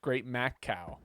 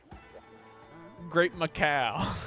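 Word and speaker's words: Great Maccao: I'm pretty sure it's pronounced Great Mac Cow. Great Macau.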